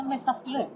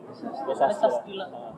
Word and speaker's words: MesaStila: Bacanya Mesa Stila. Mesa Stila.